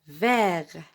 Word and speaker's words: vert: Je répète, vert. On ne se prononce pas T, non.